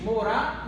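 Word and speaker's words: מוֹרָה: antigo, é tal que as letras são as mesmas, porém as pronúncias são diferentes. Morar e more. Morar significa professora, more significa professor. Como saber então que é morar ou more?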